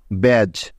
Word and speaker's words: badge: ডিজিই এই 3টি বর্ণ যেখানেই পাবেন একসাথে, সেখানেই তার উচ্চারণ হবে জ এর মতো।